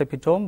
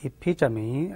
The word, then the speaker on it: epitome: Not epitome, some people tend to say it, pronounce it like epitome. It is not epitome, but epitome.